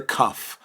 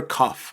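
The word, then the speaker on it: כף: or a dot inside the letter kaff is equivalent to the english letter k and sound okay and it is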